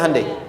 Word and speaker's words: Hyundai: Sehingga ketika di sana bikin Honda, sini Hande Hyundai kan dibacanya Hande ya kan?